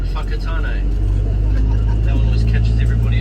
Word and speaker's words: Whakatane: Somewhere further south, you go somewhere like Whakatane.